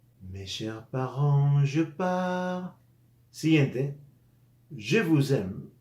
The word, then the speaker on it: parents: es parent mes chers parents je par Je par s final no se pronunciar y tendemos a pronunciarlo y